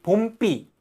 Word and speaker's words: 봄비: 봄비라고 하는 거 봄삐라고 하잖아요. 여름비 봄삐 이런게 한는데 이해되시죠?